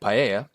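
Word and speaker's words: paella: Spain since pre-roman times possibly even prehistoric and paa is a Spanish dish of rice saffron chicken or seafood cooked and served in a large shallow pan I hope you enjoy my pronunciation of paa my wife made sure that it was correct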